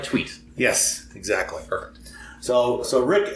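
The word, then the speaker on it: Thweatt: oh yeah I would need some sweet like tweet yes exactly so so Rick asks in fact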